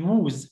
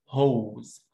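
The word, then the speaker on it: whose: طب اللي تحتها اكيد ووز، لا اسمها هوز، هوز لونج، هوز هوز لونج او، والدبليو هنا ايه؟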